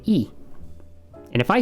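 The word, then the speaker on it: え: And to be honest, it's easier if we just always know that this is always pronounced E. It will never be pronounced I or anything else, okay?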